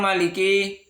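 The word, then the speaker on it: مالك: Kata maliki pada mimnya tidak terdapat alif walaupun dibaca panjang dalam riwayat Imam Hafiz karena kebanyakan qiraat membacanya dengan pendek.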